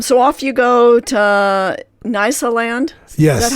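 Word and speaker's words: Nyasaland: Um so off you go to Nisa land. Yes. Is that how you pronounce it? Nasaland.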